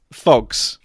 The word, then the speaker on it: PHOGS: in the room first question how do we pronounce it because I want to be sure on this glass phox phox yeah it's physics doors for that's how